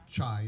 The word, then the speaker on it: Chai: Chai, I'm sorry, I almost said Kai. My wife yells at me for saying that because I never pronounce it right.